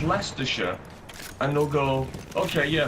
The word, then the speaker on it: Leicestershire: Like, I know that Leicestershire is spelled Leicestershire, but you'll say it's Leicestershire, and they'll go, okay, yeah, so you're from Leicestershire or Worcestershire?